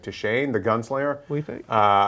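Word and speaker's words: Deschain: saying his name right to Shane the Gunslinger uh I can spell it d e s c h a i n but I think it's pronounced to Shane um and so yeah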